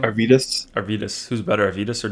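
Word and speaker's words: Arvydas: Arvidas, Arvidas.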